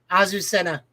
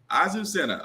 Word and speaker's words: Azucena: Azucena. Azucena.